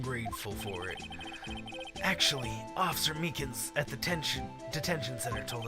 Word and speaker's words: Meekins: Actually, Officer Meekins at the detention center told us. Ah, that poor little doggy. Poor guy. I keep getting his name wrong and calling him Meekly.